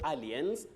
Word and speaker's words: aliens: people say alien or aliens, but that is not the pronunciation. Letter A takes its name as the sound in this word, so you say aliens.